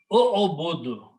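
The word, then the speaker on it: اعبدوا: But what sound we put on the alif? We look on the middle letter. This is dhamma, so we put a dhamma there. So it becomes o-o-budu.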